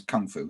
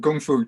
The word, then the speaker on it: gongfu: fu implies well it's the same as kung fu isn't it really it's just pronounced properly um but but gongfu translates as hard work